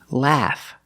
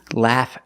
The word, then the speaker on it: laugh: This word is spelled AU, but it is not pronounced aw. It is pronounced ah. The short ah sound like black cat. Laugh.